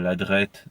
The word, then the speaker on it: Ladreit: donc marc ladreit de lacharrière donc ôta p1 ladreyt elle a des airs de l'it et de